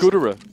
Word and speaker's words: Gouda: Gooder? Fantastic. Gooder. Like cheese? Gouda. Oh, is that how you pronounce it?